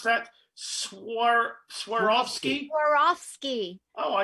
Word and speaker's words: Swarovski: geraldine carol can you tell us how to pronounce that swar swarovski swarovski oh i like you swarovski the weinskey oh